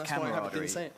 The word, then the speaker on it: camaraderie: can't even say it I say it wrong I say camaraderie well you're saying it wrong it's camarad so that's pretty exciting